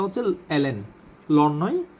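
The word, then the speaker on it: ln: বাই এক্স সমান হচ্ছে লন x plus যোগজীকরণ ধ্রুব plus C আসলে এটার উচ্চারণটা হচ্ছে এল এন লন নয় এটার সঠিক উচ্চারণ হচ্ছে এল এন মনে রাখবেন হয় এল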